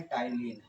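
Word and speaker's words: ptyalin: जिसका नाम है टाइलिन। याद रखें, क्या नाम है? टाइलिन पी साइलेंट होता है, टाइलिन एंजाइम।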